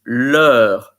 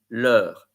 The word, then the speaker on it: leur: It's leur. In fact, you think about the pronunciation of the alphabet. A, B, C, D, leur.